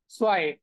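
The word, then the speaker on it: zwei: Okay, but জেড এর যে উচ্চারণ সেটা হয়ে গেছে এস এর মতো।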